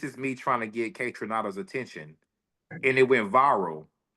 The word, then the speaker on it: Kaytranada: That's Kaytranada.